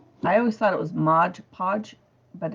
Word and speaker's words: Mod Podge: print and i love to modge podge with it mod podge with it i've been saying it wrong for almost 50 years so last night